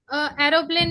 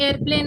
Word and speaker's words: airplane: एरोप्लेन नहीं बोलते, उसकी प्रोनाउंसिएशन एयरप्लेन होता है, ठीक है, एयरप्लेन।